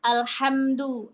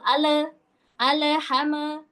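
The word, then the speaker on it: الْحَمْدُ: Huruf lam sukun di sini biasanya nih kalau emak-emak kelirunya itu jadi mantul. Ale al ham. Hati-hati lam dan mim tidak memantul.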